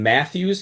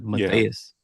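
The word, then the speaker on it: Matheus: I had to ask you this question, Juan Matthews. He pronounces it Matthews. Well, the announcers do, but it's Matias.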